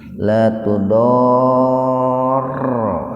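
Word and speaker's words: لا تضار: La tudorro. Nah, janganlah ini memakai ini, Pak nih. Kalau dalam ilmu tajwid disebutnya itu madlazim mutsaqal kilmi. La tudorro. Itu dibacanya begitu, Pak.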